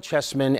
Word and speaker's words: Chessman: It's Carol Chessman, and it's spelled C-A-R-Y-L. Chessman, just the way it sounds, C-H-E-S-S-M-A-N, so look that up.